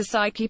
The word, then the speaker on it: Psyche: a way to get to Saiki pronounced psyche much faster by taking